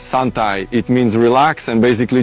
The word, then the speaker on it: santai: then you say it it's not suntime it's sunai It means relax and basically just Chill out you Indonesian I've been there many times Of course I know what sunai means It's not a